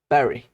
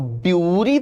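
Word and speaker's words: bury: pronunciation होता है इसका कुछ ऐसा पढ़ते हैं इसको बैरी ठीक है इसको ब्यूरी तो बिल्कुल मत पढ़ना बरी चलता है आई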